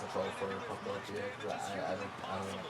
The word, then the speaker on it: Pokopia: I keep calling it Pokotopia, but it's not. Pokotopia is the name of the island in Battle Revolution. But Pokopia is going to be